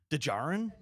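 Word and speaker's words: Djarin: go with Ninja baby dejarin that's how he spells it yeah D is silent yeah I think din's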